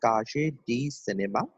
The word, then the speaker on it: Cahiers du Cinéma: It pronounced as Kaje D Cinema, and the spelling is Kaje.